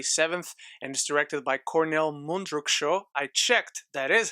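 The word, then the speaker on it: Kornél Mundruczó: on netflix january 7th and is directed by cornell mundruksho i checked that is how you pronounce it and it stars vanessa kirby shia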